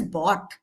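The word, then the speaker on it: bought: And here we pronounce it as bot, which rhymes with not.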